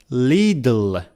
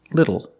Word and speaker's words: little: The word is pronounced little. The first vowel is a short I, like this is. Li. Not li, but li. Little. The second syllable is not L, it's O. It's a short sound plus a dark L.